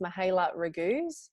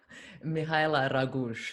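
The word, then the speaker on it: Mihaela Raguz: i've brought on one of my instagram buddies mahela ragoose how do you pronounce the what's the proper pronunciation of your name mihaila ragush it's a bit wonky isn't it just a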